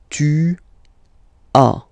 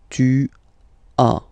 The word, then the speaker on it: tu as: Tu as, okay? As usual in French, final S is not pronounced. Tu as. Tu as, okay?